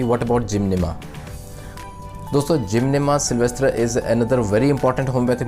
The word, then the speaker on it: sylvestre: सिल्वेस्ट्रा basically is a French word, तो इसकी pronunciation कुछ इस तरह की रहती है, सिल्वेस्ट्रा।